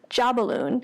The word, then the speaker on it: Jobbaloon: I am your host Jeanette and I am excited to chat with you today about the Detroit duo Jobbaloon (pronounced ‘JAH-BALLOON’).